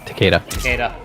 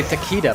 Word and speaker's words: Takeda: names it refuses because people say taquita but it's actually Takeda is it not uh